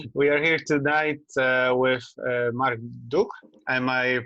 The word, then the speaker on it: Marc Duch: We are here we are here tonight with Marc Duch. Am I pronouncing it correctly?